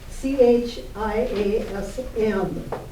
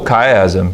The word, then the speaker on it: chiasm: I don't know how to pronounce it, but c h i a s m. They talk about his stuff. Oh, chiasm, chiasm.